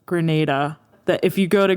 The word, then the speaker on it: Grenada: dad wanted to let you know that it's pronounced grenada thank you sir i thought i was being